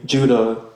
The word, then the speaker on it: Judah: The letter of Jude, more accurately, Judah, according to the pronunciation in Greek and Hebrew.